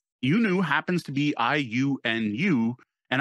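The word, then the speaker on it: Iunu: that they've made up, I discovered historians saying, "We don't know how to pronounce this name. this word, and you knew was the closest pronunciation guide I could find that anyone managed to actually agree on.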